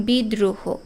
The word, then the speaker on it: বিদ্রোহ: শব্দের মাঝখানে যখন থাকবে যেমন বিদ্রোহ উচ্চারণ করে দেখো যে এখানে দুইটা দ এর উচ্চারণ হচ্ছে আবার ছাত্র দুইটা ত